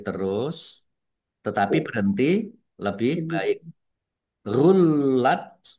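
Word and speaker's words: غلت: Gullat. Lamnya dibaca dobel, ada tasdidnya. Nah, huruf yang bertasdid itu membacanya ditekan dan ditahan. Ya, ditekan dan ditahan biar tampak dobelnya.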